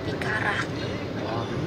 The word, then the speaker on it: Picara: Picara. Okay, you know how to roll your R?